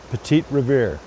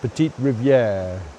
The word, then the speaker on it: Petite Rivière: can see here is, as the locals call it, Petite Riviere. Now, the locals are mostly Anglophone and the pronunciation has been changed somewhat from the French Petite Riviere.